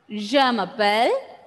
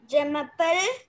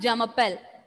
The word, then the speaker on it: Je m'appelle: See, try not to pronounce the sound as J. It is not Jamapel.